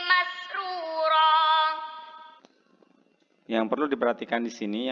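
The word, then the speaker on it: مَسْرُورًا: Masrura ya. Ro yang pertama dan ro yang kedua dibaca panjang satu ayunan.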